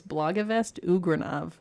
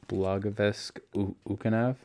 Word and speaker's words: Blagavest Ugranov: his full name was Blagavest Ugranov, and I still think that's the best name that I've ever heard. Blagavesk Ukanov? You said it wrong, but there you go.